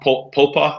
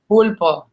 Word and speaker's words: pulpo: Oh, pulpa, is that how you say it? Pulpo. Pulpo. Oh, I just love it.